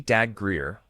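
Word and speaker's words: Dabbs Greer: Robert William Dabs Greer, pronounced Dag Greer, was born on April 2nd, 1917 in Fair View, Missouri.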